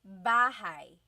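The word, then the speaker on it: bahay: You might notice that the spelling is a y at the end. So it looks like bahi, but it's pronounced bahigh. That a y combination is bahigh.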